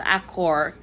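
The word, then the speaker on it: Achor: by Sean, I think the last name is pronounced Accor, described as an engaging, deeply researched guide to flourishing in a world of increasing stress and negativity.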